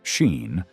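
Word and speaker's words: Sín: At its heart, the story remains a supernatural narrative about the otherworld woman sin, whose name is pronounced roughly like Sheen and her attempt to seduce and destroy the king of Tara.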